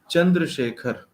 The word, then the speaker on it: Chandrasekhar: It is pronounced as Chandrasekhar. Okay.